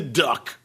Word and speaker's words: DUK: out there in the duck AKA Duke Energy Corp ticker symbol du supposed to be pronounced Duke I just like calling